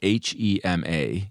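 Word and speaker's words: 盒马: I believe the store it's spelled HEMA in English. I believe the Chinese pronunciation is something like Hema.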